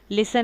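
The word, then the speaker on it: listen: लिसन है तो लिस्टन लिखेंगे क्योंकि वो पढ़ते लिस्टन है, बाज़ दफ़ा टी को साइलेंटिंग कर दे तो लिस्टन लिख लिया।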